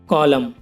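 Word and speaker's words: column: For example guys, कॉलम। अब इसमें देखो गाइस, एम के बाद एन आया हुआ है तो एन साइलेंट है, इसे कॉलम पढ़ेंगे गाइस, इसकी हिंदी होगी पृष्ठ का भाग।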